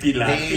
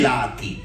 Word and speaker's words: pelati: The pelati is This is how you say pilati. pelati.